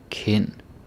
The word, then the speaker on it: kind: Sind, kind, kvinde, ven. Yeah, the D is silent.